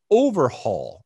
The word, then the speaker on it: Overheul: and hired nicos overhaul i don't know if i'm pronouncing that it's it's o v e r h e u l so we're gonna call him nicos nicos is great i mean i like that but i think it's overhaul or there's probably you know some sort of accent or pronunciation that i'm that i'm not quite there but anyway nico's overhaul